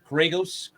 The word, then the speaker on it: Kyrgios: What were you guys' thoughts about the Wimbledon final between Djokovic and Kyrgios? I don't remember how to pronounce his last name.